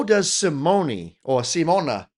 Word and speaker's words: Simone: But, someone did comment that I was pronouncing Simone incorrectly. I guess her name is Simona. That's what they said, Simona.